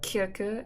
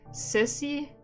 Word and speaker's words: Kirke: I'm currently reading Kirke, as you would say it in, like, the proper pronunciation. The original pronunciation, as far as we can know. But hey, I think in English you say sissy.